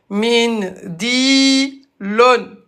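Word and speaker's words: منديل: Min di lon. Voilà. Min di lon. Et à l'arrêt, on a l'em. Avec Dammatan, on va le prononcer comme s'il y avait un soukoun.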